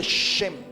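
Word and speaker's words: שם: Se dice shem. Shem. Shem. Y se escribe con las letras shin y men.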